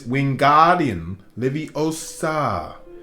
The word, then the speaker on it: Wingardium Leviosa: arms like a windmill you're saying it wrong harry heard hermione snap it's wingardian livio you're making gar sound nice and long you do it then